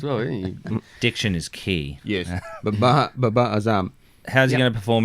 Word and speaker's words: Babar Azam: How do we think Babar Azim will perform in the World Cup? Is that how you say his name? Babar Azam. Babar Azam.